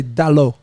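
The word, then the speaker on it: Dalot: Say his name properly, cuz. Come on, say it for me. What's his first name? You say his first name. Diego. Huh? Diego. Yeah, now say Dalo.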